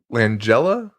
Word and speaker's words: Langella: So we got him, Frank Langella.